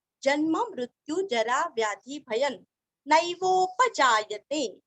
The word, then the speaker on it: नैवोपजायते: नैवोपजायते, न दो मात्रा का उच्चारण ध्यान से करना, नैवोपजायते न वासुदेव भक्तानामशुभं